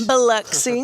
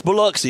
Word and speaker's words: Biloxi: Biloxi. Biloxi. Oh, you from the south part. Uh-huh. And it's Biloxi. It's not Biloxi. For all you northern people here don't know how to pronounce it.